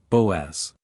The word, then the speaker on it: Boaz: Pronounces, Boaz.